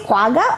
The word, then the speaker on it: quagga: Are you sure that's how you pronounce it? Quagga or quagga?